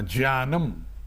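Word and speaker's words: ज्ञानम्: अगर आप इसके स्पेलिंग देखेंगे तो जो सही उच्चारण होता है ना संस्कृत का ज्ञानम। इसको इंग्लिश में भी जो लिखा है ट्रांसलिटर में भी ज्ञानम होगा।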